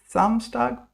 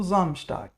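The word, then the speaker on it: Samstag: Now zamstag or zumstag. Now we all know s is like zed.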